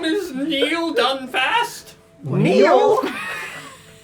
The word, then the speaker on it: Neel: sword she goes my name is neil dunfast neal it's spelled n-e-e-l so for some reason i read